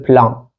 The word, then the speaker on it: plan: Donc, le plan entier, on va dire the entire plan. Plan. OK? Comme ça. The entire plan. Donc, on prononce le N ici.